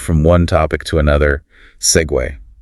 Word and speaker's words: segue: Segue. See gu. Looks like it should be seg maybe or cg, but it's an Italian loan word actually and it keeps its two-cllable sound.